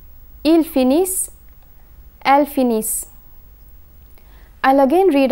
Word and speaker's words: finissent: And when the letter combination ENT is placed at the end of a verb, it is silent. The consonant that precedes the ENT ending is pronounced. Ils finissent, elles finissent.